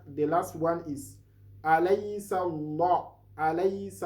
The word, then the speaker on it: Allah: Then the last one is alaysa Allah. Alaysa Allah.